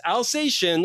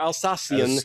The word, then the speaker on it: Alsatian: But that one, the 2022 Cote de Rhone, or Dallas's Alsatian or Alsacian. Alsacian is the obnoxious, incorrect way to say it.